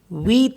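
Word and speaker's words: huit: पढ़ते हैं लास्ट में एच यू आईटी वीत पढ़ते हैं इसको क्योंकि एच साइलेंट है तो वीत हो गया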